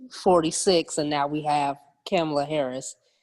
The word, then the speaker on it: Kamala: And now we have Kamala Harris.